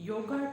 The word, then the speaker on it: yog: although it's true so, as much as possible pronounce it as 'Yog" If sometimes you mispronounce it then forgive yourself and correct the pronunciation because many people around us pronounce 'Yoga' instead of 'Yog' so, the may speak